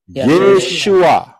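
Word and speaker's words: Yeshua: Yod syin wau Ayin aksara-aksara ini pengucapan di dalam bahasa Indonesia adalah tertulis yesua betul yesua karena orang Israel ngomongnya yesua lah kita kita gak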